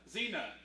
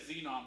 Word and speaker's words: Xena: What are I must have pronounced it wrong. Xena. I might have said Xenon, but you knew exactly what I was talking about.